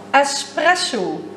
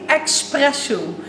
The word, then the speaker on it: espresso: Espresso. Dus niet expresso.